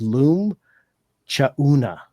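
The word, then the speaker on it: Loum Tchaouna: And just to let you know the proper pronunciation of his last name, so it's Loom Chauna. So the T is silent.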